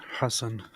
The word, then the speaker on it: Hassan: of this Terror organization is that the correct pronunciation Hass because I actually like that better it's Hass Hassan he said Hassan uh it's because Jews um they have the theal age and the harsh age so you're blaming the